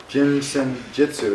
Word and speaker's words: Jin Shin Jyutsu: How do you say this? Jinshin, J-I-N. Jinshin. Is there another word? Jitsu. Jinsen Jitsu.